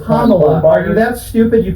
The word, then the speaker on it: Kamala: Okay, it's Kamala. Are you that stupid you can't pronounce her name right?